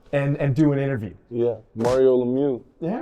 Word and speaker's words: Mario Lemieux: Yeah, Mario Lemieux.